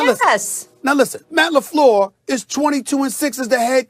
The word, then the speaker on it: LaFleur: Did I pronounce his name correctly, Molly? I just want to make sure I said Matt LaFleur.